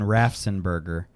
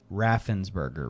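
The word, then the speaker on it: Raffensperger: I thought you were saying Rafenberger. What did I say? I think that's what you were saying and I was saying it wrong in my head and it's Raffensburgger, right?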